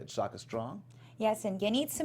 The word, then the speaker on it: Yenitza: I'll say it again. You can write it down. Yenitza.